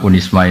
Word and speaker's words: UNISMA: Jadi saya mohon karena UNISMA ini kan biasanya bacanya UNISMA apa Zunisma. Unisma UN ya sudah berarti sudah Indonesia banget gitu. Saya tuh masih menangi orang baca Zunisma Zuii. Karena setengah Indonesia setengah rodok mambu-mambu Inggris. Itu sekarang sudah diterbitkan ya